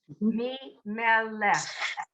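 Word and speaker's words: מלך: The first syllable is the me. The second syllable is the meh. And the third syllable is the lech. Me, meh, lech.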